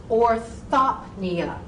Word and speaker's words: orthopnea: But if you put that PN in the middle of the word, the P wants to be heard as a general rule. So take that P and separate it from the N sound. Separate them. So orthopnea, orthopnea, hyperpnea, hyperpnea.